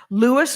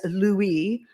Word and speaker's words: Louis: Lewis Armstrong was Lewis to himself and to all those who were close to him, including all of his wives. The French-speaking lightkinned Creoles of downtown New Orleans might have pronounced their name as Louieie or Louie, but he was always